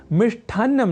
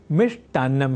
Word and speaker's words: मिष्टान्न: है शुद्ध शब्द, और ऐसे ही लेखन और उच्चारण की दृष्टि से मिष्ठान्न नहीं मिष्टान्न होता है शुद्ध शब्द।